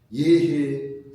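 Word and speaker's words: 豫兮: 단편을 좀 들어보자 이렇게 예해 약동 속천 예 이건 여하고 읽으면 안 되고 예라고 읽어요 예해 약동 속천 아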